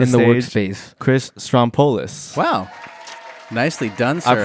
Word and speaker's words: Strompolos: It's hard to know where to emphasize the accent on the name.